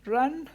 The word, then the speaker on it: Hrönn: And well, my name, it's pronounced like Hrönn, so if you want to talk with me afterwards, it's easier to pronounce that way.